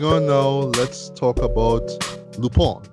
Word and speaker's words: Lupin: Okay, so moving on now, let's talk about Lupin, right? I have to remember to pronounce it that way because as normally we would say it as Lupin, right?